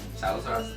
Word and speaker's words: Salazar: That's how you pronounce it. Salazar.